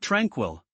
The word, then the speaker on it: tranquil: What about tranquil? Simple but key. Tranquil with emphasis on the first part.